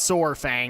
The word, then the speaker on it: Saurfang: It's Saurfang, because it's like dinosaur Saurfang.